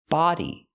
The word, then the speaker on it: body: about this word b body it has a different sound we have the open a sound like hot and stop a Fit Body example